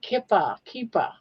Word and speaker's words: kippah: And I think it's pronounced kippah, and it's possibly Hebrew or Yiddish.